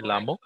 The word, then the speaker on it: llamo: Hola, yo me llamo. Double L is pronounced as a Y, so llamo.